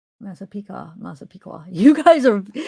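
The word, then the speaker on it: Massapequa: Oh, Masa Piqua. Masa Pika. Masa Piqua. You guys are You guys could hear those subtle differences. They're cute. I don't even need my headphones right now. Okay. Masa Piqua.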